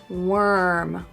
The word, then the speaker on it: worm: Not warm or warm, but worm. Worm.